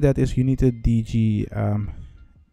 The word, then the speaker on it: DigiD: But the problem with that is you need a DigiD. That's how you pronounce it in Dutch.